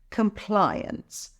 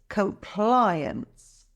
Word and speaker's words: compliance: industry regulations it's pronounced compliance let's break it down comply ends the stress is on the second syllable ply practice compliance compliance great job by